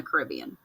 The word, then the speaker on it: Caribbean: So it gave a way to go across to get to other continents, mainly Europe, Africa, and the Caribbean. It can also be pronounced Caribbean.